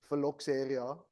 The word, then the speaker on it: phylloxera: And then there came a disease which, and excuse me for the pronunciation, it's phylloxera. I think that's the right way. Phylloxera, I think.